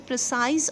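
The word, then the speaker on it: précis: ठीक है, जिसका मीनिंग क्या होता है, प्रिसाइज और एग्जैक्ट टर्म्स में लिखना। ठीक है, इट इज़ प्रोनाउंस्ड एज प्रेसी।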